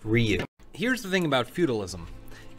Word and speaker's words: Ryu: acat great was punch like 3 seconds later rayu would kick it's pronounced Ryu here's the thing about feudalism everyone always assumes